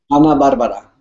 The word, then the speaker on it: Ana Bárbara: Ana Barbara, All la, right, sweet. la reina de la banda. Are you excited? I'm beyond excited. Let me tell you, I've been a fan of Ana Barbara for so long.